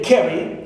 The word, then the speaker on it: carry: For example, I have the words carry, as you see here, carry, so care. Is stressed, right?